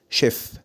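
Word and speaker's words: chef: لا، هي النطق الصح بتاعها هيكون شيف.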